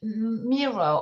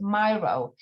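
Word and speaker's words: Miro: digital digital format on a mirror or some pronounce it myro you can ask um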